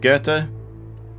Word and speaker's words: Goethe: It's like Goethe, right? In the original language? I don't know how you say that in English. One sec. Yeah, looks like it is just Goethe. Good job, English. You didn't butcher a name.